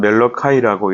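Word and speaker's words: Malachi: 나와 있습니다 명칭 우리가 히브리어를 볼 때는 말라기를 말아키 말아키라고 이렇게 번역하고 뜻은 나의 사자 마이 메신저 이런 뜻을 가지고 있습니다 영어로는 멜로 카이라고 이렇게 발음을 하고 우리말로는 선지자 이름 그대로 말라기라고 이렇게 되어 있습니다 말라기는 구약의 마지막 선지자로서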